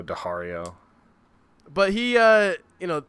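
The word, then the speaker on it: Daario: books you can't ever figure out how to pronounce it so yeah Dario Diario but he uh you know him and uh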